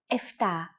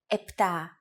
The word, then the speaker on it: επτά: Sometimes, though, especially in casual conversation, Greeks also use efta instead of epta, ochto instead of okto, and ennia instead of enea.